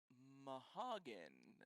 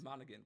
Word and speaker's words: Monaghan: Cameron Mahagan. Is that how you pronounce that name? Cameron. I haven't pulled. Oh up. yeah, Yes. Monaghan. Cameron Monaghan.